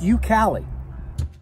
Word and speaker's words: YouKali: look at it so it's pronounced you Cali so the you Cal